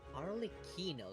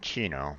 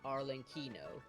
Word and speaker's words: Arlecchino: Arlecchino, that's how she pronounced her name. Okay. I was saying Chino, but. Yeah, same. But when I went to her hello dialogue, she says Arlecchino.